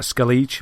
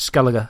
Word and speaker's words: Skellige: the a of skela it looks like skele but they uh they pronounce it skelliger in the game and that's like the